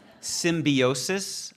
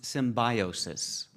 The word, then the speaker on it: symbiosis: o u s correct this word has variant pronunciations so I will give you I will give you both of them symbiosis also pronounced symbiosis symbiosis or symbiosis okay see if I can